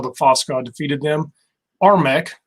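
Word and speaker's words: RMEC: fossil god defeated them armek it's spelled r-m-e-c it's all caps i like to talk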